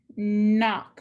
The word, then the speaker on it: knock: And knock. We have digraph KN, underline the digraph, cross out the K.